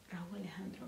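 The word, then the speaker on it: Rauw Alejandro: Raul Alejandro, right?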